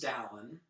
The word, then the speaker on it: Dallin: My name's Dallin, pronounced Allen with a D.